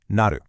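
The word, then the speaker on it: なる: And here it is, the verb naru, pronounced naru.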